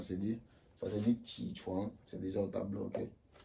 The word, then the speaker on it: 起床: Comment ça s'écrit, ou du moins, comment ça se dit? Ça se dit ti chuan, c'est déjà au tableau, ok?